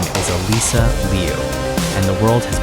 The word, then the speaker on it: Alysa: Alysa Liu. Pause on that. Ah-LEE-sah, not Alyssa. And Liu, 1 syllable, not Liu or Lu or Lo.